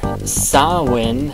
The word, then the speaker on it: Samhain: And Samhain is spelled S-A-M-H-A-I-N. Don't ask me how that works. It's like Mr. Wynn from Hey Arnold.